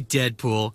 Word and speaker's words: Deadpool: Call me Deadpool. It rhymes with no school.